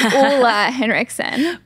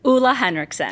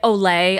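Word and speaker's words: Ole Henriksen: it before but pronunciation so it's aa henriksson aa henriksson okay great it is a Danish brand and a Danish founder so the pronunciation can be tricky yes yes we get Olay a lot o yes the way I'm thinking of it right now is like oo la la yeah he does say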